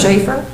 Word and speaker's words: Schaefer: Can you pronounce your name Schaefer or Schaff? It's pronounced multiple ways, sir. Which way do you I prefer pronounce it? Schaefer.